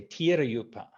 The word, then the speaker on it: Dhirayupa: Dhirayupa. Dhirayupa. Thai pronunciation, I usually say Tirayupa.